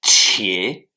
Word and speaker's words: 且: Le troisième caractère que nous allons apprendre, c'est qie, Q-I-E, troisième ton qui s'écrit de la manière suivante.